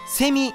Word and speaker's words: セミ: うまくいいっうそん標準語ではカマキリセミがっていうイントネーションだけど兵庫県出身の無償化が読むとカマキリセミガーって言うてしまうだからみんなも